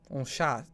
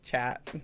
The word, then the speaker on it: chat: Yeah, but you pron in French you pronounce it. Oh, shot. You know, like you don't say uh chat.